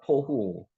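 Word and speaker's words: תֹהוּ: 합니다 주장을 합니다 요게 토후 있니다 토후 글자 위에 점입 했는 거는 오 발음을 한다 그랬습니다 여기게 t 발음이 토후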